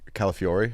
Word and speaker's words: Calafiori: How do you feel about Calafiori?